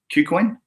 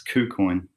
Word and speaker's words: KuCoin: bike you link on Q Queen o qu coins sorry I've been mispronouncing it it's kou-kun that's gonna take a